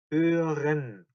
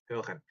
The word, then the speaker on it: hören: 요거 발음 어려운데 오 umlaut죠. hören 발음 되게 어렵죠. hören.